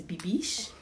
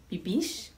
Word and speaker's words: Bibiche: bibish everybody has been asking me how to pronounce my name my name is bibish bibish and i welcome you all to my channel